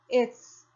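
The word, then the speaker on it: עץ: A próxima palavra é um Ain. É mudo, portanto. E aqui eu tenho Serê. Serê tem som de E. E aqui eu tenho tsatsufit, que faz aquele sonzinho no final de TS. Então, eu tenho ets.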